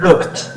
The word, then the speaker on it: looked: pronunciation. Looked.